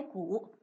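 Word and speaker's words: 盬: 一个，它的读音为鼓，它作为停止的意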